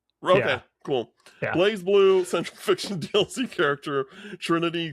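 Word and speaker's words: BlazBlue: Uh, Blasblue, do you say Blas Blue or Blaze Blueue? It's Blaze Blueue. Really? I like the producer has said that. Okay, cool. Blaze Blueue central fiction DLC character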